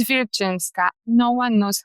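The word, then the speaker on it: Wilczyńska: because I'm Polish and my last name it's Vinska. No one knows how to pronounce it.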